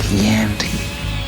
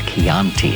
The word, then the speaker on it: Chianti: I ate his liver with some fava beans and a nice Chianti. The problem was he mispronounced Chianti. It's Chianti and it bothered me all the way.